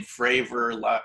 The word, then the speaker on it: Fravor: politically correct but obviously his last name fravor rhymes with favor so you can kind